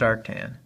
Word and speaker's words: arctan: So theta is the inverse tan, which is pronounced arctan, of 20 over 0.59.